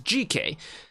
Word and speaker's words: GK: artist uh named GK almost called him JK it's GK um pronounce l how it is GK uh with the song